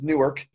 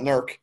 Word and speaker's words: Newark: One's Newark, and people from that area like to call it Nurk, and it drives me insane.